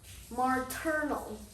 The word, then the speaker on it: maternal: pronounce that remember to pronounce martinal not martinal maternal that's how you pronounce it maternal grandfather today i'm gonna talk